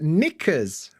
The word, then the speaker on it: knickers: all those words that should begin with N but have a k of all the letters why would a k be silent kers why is I should also point out that nickers with the silent k is kind of a British